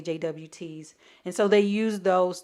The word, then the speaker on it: JWT: Some people pronounce them JOTs. I like to say JWTs.